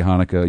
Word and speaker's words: Hanukkah: We say Hanukkah, you say Chanukah.